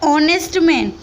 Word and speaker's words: honest: that, but the Here when we pronounce this word honest, H becomes silent. So we says honest man, not a honest. Okay, it's a honest man.